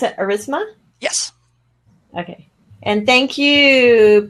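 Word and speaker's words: Aurasma: second a u r all right and they pronounce it erisma yes okay and thank you pm gnt for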